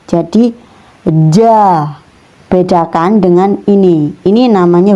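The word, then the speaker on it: جَ: Ini cara bacanya ja. Kemudian ini za, nggak sama ya teman-teman, hurufnya beda, cara pengeluaran hurufnya juga beda melafalkannya ya. Ja, za, ja, za.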